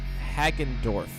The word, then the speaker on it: Hagendorf: ha show that's how you say her name hack andorf I think I'm going hello my fellow music lovers and welcome to the Allison hagendorf show this is where we celebrate the universal